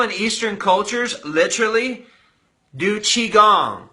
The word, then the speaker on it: Qigong: People in Eastern cultures literally do Qigong. It's spelled Q-I-Gong.